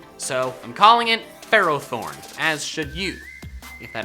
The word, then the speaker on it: Ferrothorn: pronouncing it Ferrothorn because its name is intended to be a combination of Ferrum or ferrous and thorn not ferocity and thorn so I'm calling it Pharaoh thorns as should you if